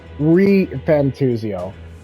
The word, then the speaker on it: ReFantazio: Or is it supposed to be pronounced ReFantazio? ReFantazio. Like the narrator said.